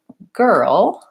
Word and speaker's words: girl: it but again there's what's challenging there is the R and the ll combination so the word girl I have to move from the vowel into the L sound so I like to